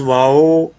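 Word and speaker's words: واو: Making lips round, wow pronounced as wow, pronounces wow by making lips round.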